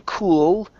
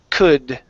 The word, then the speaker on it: could: The L is silent, so instead of saying cooled, it's could.